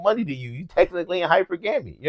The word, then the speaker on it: hypergamy: Hypergamy is what it's called. That's how you pronounce it?